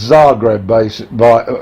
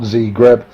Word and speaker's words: Zagreb: That's Zagreb, not Zagreb.